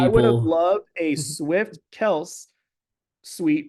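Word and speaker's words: Kelce: right next to Swift Kel apparently we've been saying Travis yeah Travis last name wrong it's Kel right well so because their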